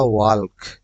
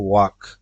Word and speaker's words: walk: এখানের মধ্যে হচ্ছে WALK, হওয়ার কথা ওয়াল্ক, কিন্তু এটা উচ্চারণ হয় ওয়াক, কারণ এখানের মধ্যে এল এর উচ্চারণ হবে না।